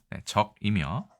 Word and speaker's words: 脊: 나타냈다라고 되어 있습니다 자 발음은 적이며 척이 아니라 적으로 되어 있습니다 16부에 속한다라고 되어 있습니다 뭐 그